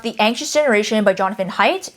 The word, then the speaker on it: Haidt: Similarly, I then picked up The Anxious Generation by Jonathan Haidt, which that is how you say his last name according to his website, by the way.